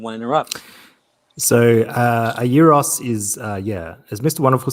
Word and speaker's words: gyros: people call them like gyros and stuff like that. Right. Okay. It's I call them gyros. right. It's actually, look, I don't want to be the police here, but it is a euros.